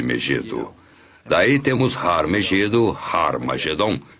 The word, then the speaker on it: Armagedom: daí temos har meedo harmagedon e Armagedon e realmente em algumas das antigas versões do novo testamento escritas em grego Armagedon tem o som aspirado no início que significa que era pronunciada com H Origin nor era hared